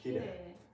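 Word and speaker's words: きれい: Actually, this is actually, even if it's written I, it's also pronounced as e. Kirei.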